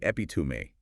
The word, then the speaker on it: epitome: People often say epi stressing the second syllable, but it's actually epitome stress on the third syllable. Epitomy.